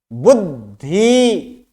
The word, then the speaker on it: बुद्धि: बुद्धि, बुद्धि, बुद्धि, बुद्धि, बुद्धि। तो इसमें पता चलता है कि द आधा ही है, बुद्धि यानी द आधा और ध संपूर्ण।